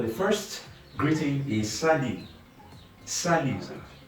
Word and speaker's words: salut: Salut. The T at the end is silent.